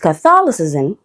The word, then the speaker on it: Catholicism: But with Catholicism, the letter A changes to the schwa sound, and that's why the stress shifts to the second syllable.